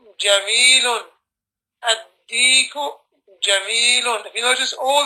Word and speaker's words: الديك: You don't pronounce the lam, it's being added to the next letter and there's a shadda to represent it.